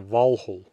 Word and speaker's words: Valhöll: reconstructed Old Norse pronunciation rather than modern Icelandic pronunciation, which is true of all my videos. I will often be mentioning hell and Valhöll.